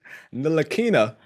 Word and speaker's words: Ntilikina: Says Ntilikina. Ntilikina. Okay, so what he did was he took the K and the L and swapped them.